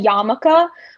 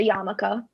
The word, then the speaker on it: yarmulke: yiddish it's called a yamaka which is also really confusing cause i think there's an r in the spelling so i'm sure that throws a ton of people off but it would be